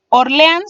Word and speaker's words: Orleans: de ellos sería orleans orleans se divide en tres sílabas siendo ans la tónica tiene una s le